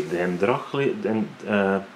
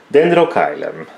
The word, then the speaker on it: Dendrochilum: This is the other part of the dendrochium. Oh my god. I'm sorry guys. Oh, I need to practice. Dendrochilum. There we go.